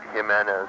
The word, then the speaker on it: Jimenez: Jimenez. How do you spell that?